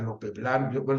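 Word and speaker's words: Lope Blanch: a ver mencionaste a Lope blano yo dije Lope blan porque es como se pronunciaría en catalán pero es el maestro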